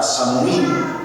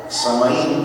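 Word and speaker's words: Samhain: eh se le se le pronunciaba samín verdad y viene de una palabra Irlandés vieja O más bien del Irlandés viejo del Irlandés antiguo que significa fin de verano samaín pues significa fin de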